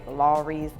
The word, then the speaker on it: Lawry's: Some people say Lawry's. I say it Lowry's, like Mike Lowry is how I pronounce it.